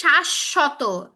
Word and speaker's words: শাশ্বত: শাশ্বত, তালব্যশ দুইবার উচ্চারণ হচ্ছে। তারপরে যে রস্য, এই শটা দুইবার উচ্চারণ হচ্ছে।